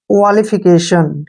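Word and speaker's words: qualification: क्या पढ़ेंगे इसको क्वाली एफ आई को हम फ पढ़ते हैं और सी ए को के पढ़ते हैं और टी आई को श पढ़ते हैं और एन को न क्वालिफिकेशन ठीक है ना क्या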